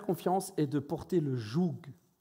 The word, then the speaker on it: joug: de porter le jou c'est pas un mot où il manque des lettres J ça s'écrit vraiment J il y a des jeunes qui disent j tu as mélangé les lettres avant de le dire ou il manque des trucs j o u g jou vous avez déjà vu